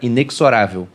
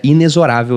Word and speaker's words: inexorável: errei e tinha lá como é que era a pronúncia correta de inexorável eu achei que era inexorável como Geralmente eu até falo porque as pessoas não conhecem né mas é inexorável mesmo aquilo que é Implacável